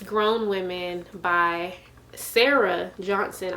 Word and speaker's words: Sarai: it's Grown Women by Sarah Johnson. I know it looks like Sarai, but her name is pronounced Sarah. If you go on her Instagram, she says like it's pronounced Sarah.